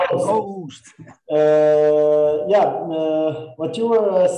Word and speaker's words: Joost: Did I pronounce it correctly this time? Almost. Joost. Oh, Joost.